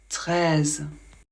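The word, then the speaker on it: treize: de la même manière 13 e et i ça fait le son e le Z toujours Z 13 toujours pas de problème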